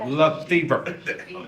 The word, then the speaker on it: La Fever: La Fever. I can't spell it, I cannot pronounce it. I just learned right before I came up, Bonnie says it rhymes with fever, La Fever.